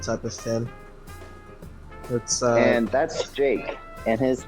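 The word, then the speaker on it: Jaqe: of a different type of skin and that's jake and his name is spelled j-a-q-e jake that's an original name is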